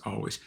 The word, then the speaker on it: Alvvays: Oh yeah, he says pronounced always.